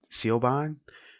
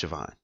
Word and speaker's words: Siobhan: do you say oh you know it's actually pronounced even you know or even take Siobhan for example you say oh it's it co bond co bond you know remember it's about si